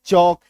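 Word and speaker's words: chalk: वॉक टी के टॉक सी एच ए के चौक एसटी ए के स्टॉक एफ ओ के वाई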